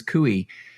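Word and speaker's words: Coie: equal rights versus Morrison and Forester and Perkins cui that's correct pronunciation yes it is yeah and so yeah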